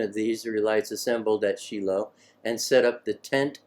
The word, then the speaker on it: Shiloh: of the israelites assembled everybody knows that one is Shiloh but it's actually sheilo Shiloh is modern Hebrew sheilo is the ancient Aramaic pronunciation take your pick the